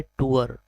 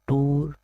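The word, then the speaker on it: tour: इसके right pronunciation है टूअर, नॉट टूर, या लोग कुछ और बोलेंगे तो गलत है। इसकी right pronunciation is टूअर, a journey made for pleasure specially as a holiday, घूमना।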